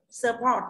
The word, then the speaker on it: support: Support thì âm ơ này là không nhận trọng âm thì trọng âm đơn viết thứ hai là port.